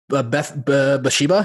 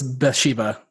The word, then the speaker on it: Bathsheba: Yeah, it's Bathsheba. Is that how you pronounce it?